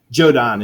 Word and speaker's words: Jordan: of the team and every thought was so funny because jodan is joke and that's how they pronounce Jordan okay so Jordan well